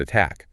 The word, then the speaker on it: attack: Same with the word attack. The stress is on tack, so it stays a crisp, sharp T. We don't say attack, we say at, tack.